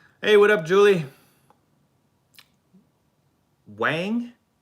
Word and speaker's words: Wang: Wang? It's Wang, not Wong? Wang, okay.